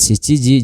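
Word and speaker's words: 七時: Kemudian kesa tadi pagi, hiru siang, yoji jam 4, shichiji jam 7, kuji jam 9. Nah, untuk selain dari 3 jam di sini, pengucapannya itu seperti biasa ya. Maksudnya gimana? Seperti misalkan jam 1 ichiji, jam 2 niji, hanya tinggal kita tambahkan huruf ji saja ya.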